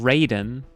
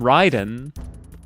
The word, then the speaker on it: Raiden: They call him Raiden. Like that is is crazy to me because it's literally pronounced in the game. Everyone calls him Ryden. Why would you why would you pronounce it wrong when it is pronounced in the game for you?